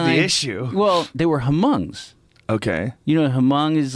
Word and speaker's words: Hmong: Well, they were Hmongs. Okay. You know, Hmong is like Yeah. this. If you saw Gran Torino, that movie with Clint Eastwood. I think the H is silent.